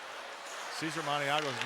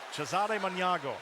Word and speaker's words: Cesare Maniago: by Art Fleming, that Cesar Maniago's name was in an answer. Only Art Fleming pronounced it Cesare Maniago.